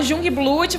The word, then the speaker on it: Jungblut: Se escreve aqui, se fala Jungblut, vai ser mais fácil de achar.